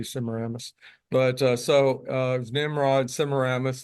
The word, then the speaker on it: Semiramis: I've heard different pronunciations. I say Semiramis.